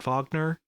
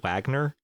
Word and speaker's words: Wagner: interview with him and they introduced him as Matt vogner but I'm pretty sure he pronounces his name Matt Wagner so I don't know